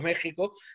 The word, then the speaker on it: México: medido a méxico porque méxico se escribe con x aunque se pronuncia con